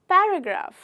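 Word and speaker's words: paragraph: इसे हम पैराग्राफ नहीं बोलते हैं, पैराग्राफ नहीं बोलते हैं, ना कि वो पैरा है ना कि वो पैरे है, इसे हम बोलते हैं पैराग्राफ। जब आप प बोलें तो आपको PH का साउंड आना चाहिए।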